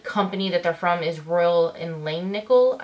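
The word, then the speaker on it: Royal & Langnickel: that they're from is Royal and Lane nickel I think is the correct way to say it but I got these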